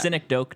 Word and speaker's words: Synecdoche: How do you pronounce that? Synecdoche, New York.